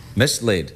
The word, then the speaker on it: mislaid: No, the word has 2 syllables, one of which is laid.